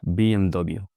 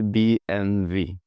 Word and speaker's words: BMW: They say B MV and the problem comes with the W. You see in German the letter W is pronounced V and the letter V is pronounced F.